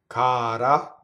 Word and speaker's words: cara: Cara, flipped R, surrounded by vowels.